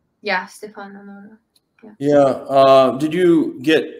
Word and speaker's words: Stefano Nurra: Yeah, Stefano Nurra.